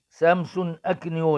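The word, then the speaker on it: Samson Akinyoola: الجزيري وسمسم وسمسم وسمسم اكيو سامسون اكنو ده النطق السليم بتاعه الزمالك بصراحه لعب ماتش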